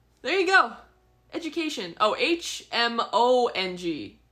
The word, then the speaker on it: Hmong: Oh, Hmong is how you spell it. But you don't pronounce the H.